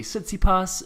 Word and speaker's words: Tsitsipas: Yeah, I mean, there was this Greek article that was talking about how the name is pronounced differently in different situations. So it could be Tsitsipas, it could be Tsitsipa, depending on whether you're talking to him or talking about him.